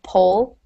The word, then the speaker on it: Polish: So Paul-ish, and the first one's pole, pronounced as if you would have an E after that L. So you can think of to polish, to pronounce that, it's kind of like the word doll at first.